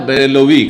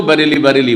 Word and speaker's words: বেরেলি: ওদেরকে বলা হয় বারেলবী কিন্তু অনেকে উচ্চারণ বেরেল না করে ওদেরকেও বারেলি বারেলি বলে কিন্তু শহরটার নাম বেরেলি কথা বোঝা গেছে না